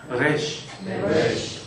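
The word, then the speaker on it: ריש: 이게 그 영어처럼 이렇게 혀를 말아서는 안 하시면 좋을 것 같아요. 이쪽 이쪽은 혀를 말아서내는 소리 레쉬가 아니고요. 레쉬레쉬 우리 그냥 리얼 흘러가는 발음을 하고 가셔 레쉬네 레쉬 레쉬 그 신경 써서 발음하다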